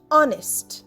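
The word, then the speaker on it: honest: এক ঘন্টার মধ্যে আসবে অনেস্ট এইচ ও এনই এসটি অনেস্ট অনেস্টে H silent অনেস্ট মানে সৎ হিজ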